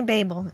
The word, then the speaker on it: Babel: to thank you right I think it's Babel because there's only one B I mean Babel is two B's right that's what I thought it's definitely Babel in this episode and